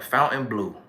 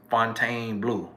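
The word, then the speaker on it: Fontainebleau: the cabana at the fountain blue which it might be pronounced fontaine blue down in miami and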